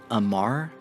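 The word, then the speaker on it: Amarr: as i am aware they are pronounced khaldari minmatar amar and galente the kaldari and galente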